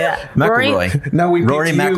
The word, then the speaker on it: McIlroy: McElroy. No, we Rory picked you McIlroy. because of the way That's you pronounce McElroy.